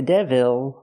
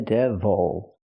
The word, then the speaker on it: devil: Not the devil, but the devil. Use the close sound. Again, the stress is on the first syllable.